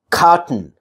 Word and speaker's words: cotton: If it's a weak syllable, and if that weak syllable contains, you know, T and then N at the end, the vowel in between is going to be very, very little, if nothing actually.